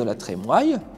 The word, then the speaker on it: La Trémoille: descendants des ducs de la Trémoille puisqu'on le prononce comme ça depuis le 19e siècle la famille décide d'en